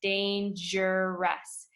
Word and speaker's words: dangerous: clean germs are dangerous listen to that word danger Ross right there in the middle you hear a jet sound dangerous and can be very